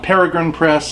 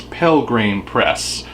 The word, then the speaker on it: Pelgrane Press: It's not Peregrine Press, it's Pelgrane Press.